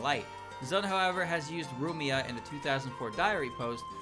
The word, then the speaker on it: Rumia: nothing it's a no her name is rumia all right it's rumia it's not Lumia not Lumia not Lumia just rumia cools are winning cools